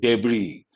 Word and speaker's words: debris: crash, then wreckage, then debris. Debris, Debris, the last letter is silent.